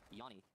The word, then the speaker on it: Yanni: So I just did my second deep dive investigation on how to actually properly pronounce Yanni TR's name. And so first time they said Johnny, now it's Yanni, but it's bak mesela bak, double drone diyor, gördünüz mü?